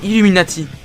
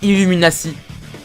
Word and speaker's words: Illuminati: français comme en anglais ça se prononce illuminati et non illumina si c'est quoi ton problème